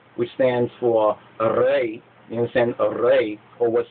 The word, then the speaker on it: Ra: Even the pronunciation of the name, when they say Ra, Ra, Ra. Now, in the Hebrew, to say Ra, Ra, actually means evil, while to say Re, or Re, Re, Re